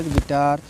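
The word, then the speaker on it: guitar: फिर गिटार है, जी यू आई टी ए आर, यू हटा दीजिए, क्या बचेगा, गिटार।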